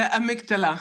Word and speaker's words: amygdala: the amygdala.